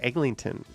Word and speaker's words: Eglinton: But you also always hear Eglinton, where there is no G. Like they drop this G, but they stick a G that doesn't exist into Eglinton.